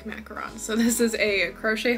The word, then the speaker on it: macaron: people really really like macarons so this is a crochet hard macaron and it's pronounced macaron not macaroon even though I don't